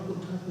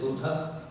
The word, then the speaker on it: Buddha: That when Buddha, he was you all pronounce Buddha's name? You can all pronounce it as Buddha. Or some people say in the United States Buddha.